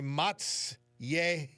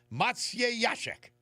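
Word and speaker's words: Maciejaszek: K and it says to pronounce the Polish surname with that spelling say Matsy Yashek Mat Matya Yashek Matsyashek I'll have it nailed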